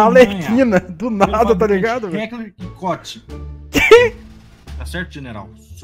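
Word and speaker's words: Heckler & Koch: Heckler e Koch. Tá certo, general? Se o senhor pronunciar errado, o senhor pode me corrigir, por gentileza? Qual a pronúncia, Guia? Heckler e Koch.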